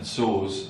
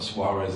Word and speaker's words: Soares: And Soares, and that's the correct pronunciation, it's not Soares as a lot of people have called him.